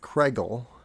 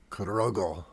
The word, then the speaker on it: Cragle: My name is pronounced Cragle, but being a German name back in the day, it most likely was more like Cragle or Cragle.